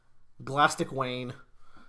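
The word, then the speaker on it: Glastig Uaine: be like de lastik like plastic with a G yeah and then win yay elastic Wain um Master Wang so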